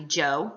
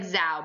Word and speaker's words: Zhou: like zao so z-h-o-u that's actually joe like j-o-e but it so it looks like zao but it's pronounced joe